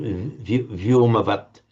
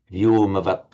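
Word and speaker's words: व्योमवत्: It would always be pronounced as one word, vyoma vat, literally sky-like, vyoma vat.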